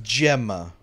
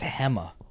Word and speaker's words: Gemma: with that name and they pronounce it with an H sound yeah so it's filled